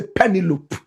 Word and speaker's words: Penelope: SOME PEOPLE say Penelope. Correct pronunciation, Penelope.